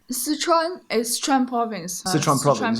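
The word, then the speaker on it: 四川: Sichuan is Sichuan province. Sichuan province, yeah. They make a lot of Sichuan dish.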